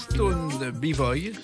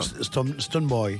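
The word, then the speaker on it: Stonebwoy: Alors là, vous êtes accompagné par Stone B-Boy, je crois. Stone Boy. Stone Boy, voilà, Voilà, ma ouais.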